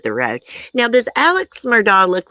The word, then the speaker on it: Murdaugh: we read about steven it's pronounced murdoch i can verify the name is pronounced murdoch is denim or dawg